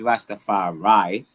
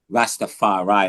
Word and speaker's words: Rastafari: So, the Jamaicans pronounce it as Rastafari and I'm quite sure in Bahamas they say Rastafarai as well and Rastafarian but once you get to the America they say Ra Rastafarai.